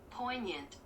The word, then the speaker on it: poignant: How do you pronounce that again? Poignant.